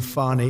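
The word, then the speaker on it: Fani: you very unfairly she goes by the name of fny even though it's f a n i she wants to pronounce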